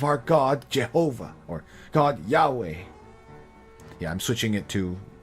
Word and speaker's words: Yahweh: Yeah, I'm switching it to the current, how it's really, but normally you would translate it as Jehovah, but nowadays we say Yahweh because that's actually probably the more accurate pronunciation.